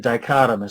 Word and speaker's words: dichotomous: Again, there's a hard C in dichotomous.